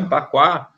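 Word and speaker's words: Bagua: Então, quando você fala no Qua, você tem a estrutura da família, o famoso Baguá, né, que se pronuncia Paquá.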